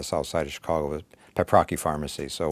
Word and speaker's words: Paprocki: side of Chicago with papaki pharmacy so we Americanized that and but Polish people always tell me that it's the proper pronunciation great so you are